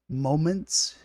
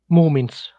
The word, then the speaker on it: Moomins: Moments. Moomins. How do you spell that?